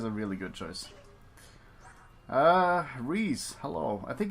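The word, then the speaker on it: Rhys: really good choice uh Rees hello I think it's pronounced Reese I think it's Reese yeah I'm just going to back out that is Reese uh so ree is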